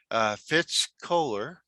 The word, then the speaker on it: Fitz Koehler: And today I have a special guest, Fitz Koehler. Did I pronounce that right?